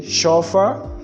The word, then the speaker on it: chauffeur: That is, French words that are already adopted in English language is CH, are to be pronounced as sh, because that's how French pronounce it.